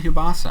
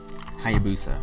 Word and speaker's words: Hayabusa: Oh, I spelled it wrong. Okay. It's Rio. No, it's Ryu. Okay. Ryu Hayabusa. I'm gonna say Hayabusa. I don't know. I think it'll be Ryu Hayabusa because he's starred in